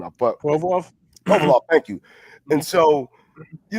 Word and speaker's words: Provorov: I can't get his name out, but Provorov, thank you.